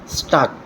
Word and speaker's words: stalk: lion को स्टाक करच STALK स्टाक L silent स्टाकिंग कते आई कुड़िना